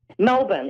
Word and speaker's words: Melbourne: How do you say Melbourne? Melbourne, exactly how you said it, Melbourne.